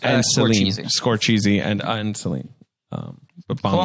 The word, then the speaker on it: Scorsese: And then you got Greta Gerwig, the Safdie brothers, Martin Scorsese, who's up and guy, coming. yeah, I think it's pronounced And Celine. Scorsese.